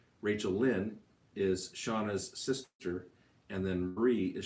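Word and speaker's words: Shana: odd because it's not it's spelled s-h-a-n-a and it's pronounced shawna so they swore they're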